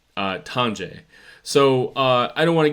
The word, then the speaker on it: Tonje: I think in Scandinavian languages it's Tonje or Tonwe, perhaps. But this is America. We're going to pronounce it Americanized. It's going to be Tonje.